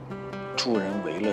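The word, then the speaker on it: 助人为乐: 这么多年，我突然发现 “ 助人为乐 ” 这个词，我念错了很多年。 “ 为 ” 字应该念成 4 声。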